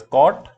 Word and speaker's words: cot: lastly we have cotangent in short it is pronounced as cot theta and which is defined as a reciprocal